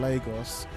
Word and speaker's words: Lagos: We got to see my home country of Nigeria in Lagos. That's right, it's pronounced Lagos, not Lagos, but Lagos.